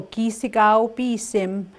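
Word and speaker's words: kîsikâw-pîsim: What I'm going to just do the pronunciation. Okay. So ki sigao bi sim would be the sun.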